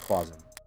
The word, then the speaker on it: Kasim: Is it Kasim or is it Quasim? I think it's Kasim. There it is, Kasim.